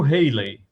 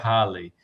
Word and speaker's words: Halley: Na verdade, o nome do Bill Haley seria Bill Haley, né? E o cometa seria Halley. Só que depende da época, o país que você está, começa a mudar essa pronúncia. E na época, nos Estados Unidos, o cometa Halley, o pessoal pronunciava Haley como o nome dele, Bill Haley.